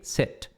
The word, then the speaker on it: sit: Quando você fizer o I longo, seat. Assento. Agora, um I curto, meio E, sit. Sit. Aí é sentar-se, ok?